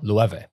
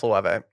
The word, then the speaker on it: Loewe: Lueve. Loewe. There it is. It's pronounced Loewe.